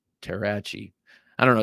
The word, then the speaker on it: Terrachi: This next one, this is a Joe Flowers design, and it's his follow-up to the Terrasaur, the Terrachi, like machete, Terrachi.